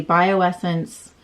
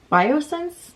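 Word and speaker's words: Bioessence: things here so the bio Essence biosense I think I've been saying that wrong forever how do you say that biosense I've always called it bio Essence and that is that is obviously wrong um it's the squal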